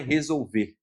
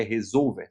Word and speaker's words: resolver: Em português, é o mesmo nome que se dá para ele em inglês, só que a pronúncia não é resolver, é resolver, sensor resolver, que basicamente é um sensor que marca posição em um eixo.